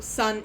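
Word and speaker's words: 三: Or sun is how you pronounce 3 in Japanese.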